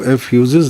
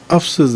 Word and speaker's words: افسس: سمجھ میں آیا کہ اس کی ادائیگی کا تلفظ جو ہے وہ ایفیوزز نہیں بلکہ افسس ہے۔ یہاں مجھے اپنا جولائی